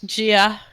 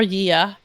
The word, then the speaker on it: Gia: It is Gia, or Yia, as he prefers to pronounce it himself, on Hanzo, Skoog on